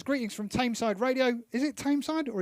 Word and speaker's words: Tameside: Tony Dino Corrigan says, greetings from Tameside Radio. Is it Tameside or is it Thameside? It's spelled T-A-M-E, not like T-H.